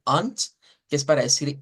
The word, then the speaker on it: und: Luego tenemos unt, con un sonido de T al final y no de D, unt, que es para decir I.